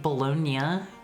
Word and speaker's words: bologna: that no one does b b bologna is is is that is that how some people say it Brits say it like bolognia I'm cat kill me